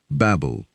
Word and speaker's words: Babel: Babylon is actually the Greek pronunciation of the original name. The Babylonians themselves called their city Babel. The Greeks, as they tended to do, mangled a lot of foreign words, and Babel became Babylon.